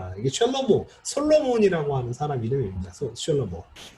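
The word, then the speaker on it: שלמה: 근데 뭐가 맞냐면 사실 이 단어를 아는 사람은 이게 뭐로 발음하는 게 맞는 걸 알아요. 이게 셜로모, 솔로몬이라고 하는 사람 이름입니다.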